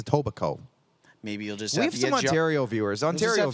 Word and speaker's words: Etobicoke: I think it's the K is silent. Like Edabaki or something, isn't it?